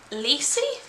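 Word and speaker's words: Lisey: the start of firk okay rhymes with see seats lessee this is lessee story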